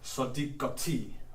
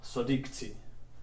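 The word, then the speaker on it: صديقتي: Then we are able to add the possessive suffix for my, which is the ya, and the end result is sadiqati, sadiqti. Either pronunciation is good.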